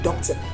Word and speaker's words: doctor: Doctor, doctor, doctor. Doctor is a two-syllable word which has the first syllable as